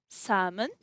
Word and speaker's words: salmon: For the H in chemist and ghost, the K in knock, the L in the modal verb should, cough, talk, salmon, the N in autumn, and the P in pseudonym, and in the word psychology.